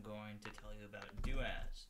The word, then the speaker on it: doas: everyone today I'm going to tell you about daaz spelled like that it is a command similar to